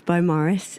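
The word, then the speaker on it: Beaumaris: about your neighborhood bomaris is that how you say it by morris but a lot of people ask us how to pronounce it actually so we've addressed that in the talk we're doing tomorrow it's bo morris and uh it's a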